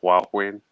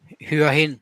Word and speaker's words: Hua Hin: I think right now, maybe he's in, how do you pronounce it? Hua Huyen? Hua Hin. Yeah.